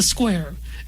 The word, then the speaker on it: Skuare: the courts at the square. And square is spelled s ku a r e. So if you hear me going squire, that's squar like like I'm a giant predatory bird.